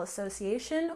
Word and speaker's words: association: well basketball basketball and Association we have stress here almost on the end of the word association association but normally you will hear